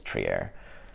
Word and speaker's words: Trier: cards of him and they all pronounce his name wrong so I had to go look it up and I can't remember if I'm pronouncing it right but I think it's tree air klay Thompson Damian Lillard